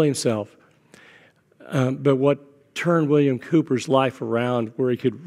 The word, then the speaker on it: Cowper: Way, written by William Cooper. And I know it's spelled Cowper, but it's pronounced Cooper.